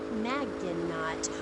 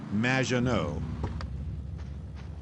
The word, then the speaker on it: Madgenot: It's Madge, which rhymes with badge, uh as in duh, and no as in more than you. Madgenot.